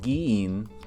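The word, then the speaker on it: 議員: So giin is how you pronounce this.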